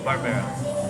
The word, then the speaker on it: Barbera d'Asti: The bottle of the red wine, how do you pronounce it? - Barbera d'Asti. - Barbera d'Asti?